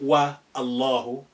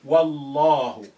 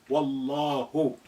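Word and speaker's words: والله: But if you put wow there, by God, you say Wallahu, not wa Allahu. You say Wallahu. Wallahi. Mathalan, Wallahi. Wallahu.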